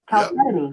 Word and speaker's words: Chalcedony: Chalcedony. Chalcedony? Chalcedony.